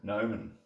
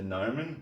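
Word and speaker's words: gnomon: and that thing is called The Gnome that we pronounce it nomen that thing is the gnomen it's the solid arm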